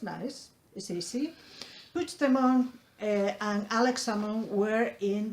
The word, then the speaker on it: Puigdemont: bomb yes which the moon it's nice CC which the moon and Alec salmon were in the plane together